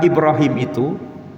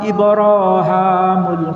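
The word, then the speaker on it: إبراهيم: Dalam Al-Quran ini, nama Ibrahim dapat dibaca dengan dua cara. Misalnya saya membacanya seperti ini: "bismillahirrahmanirrahim" " waid yarfau ibrahamul qawaid minal baiti wa ismail." "Rabbana taqobbal minna innaka antas samiul alim." Saya membacanya sebagai "Ibraham." Apakah pembacaan saya benar atau salah? Siapa pun yang mengatakan itu salah, sebenarnya bacaan itu benar.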